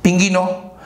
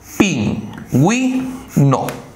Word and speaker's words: pingüino: ¿Qué dice acá? Pinguino. ¿Qué debe decir pingüino? ¿Necesitamos que la U se pronuncie? Sí, le ponemos diéresis. Acá dice... Pin, wi, no.